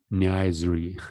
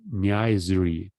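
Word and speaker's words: niaiserie: No pronunciation. Okay. Let's try to find it here. Nice year. It sounds like nice. Niaisery.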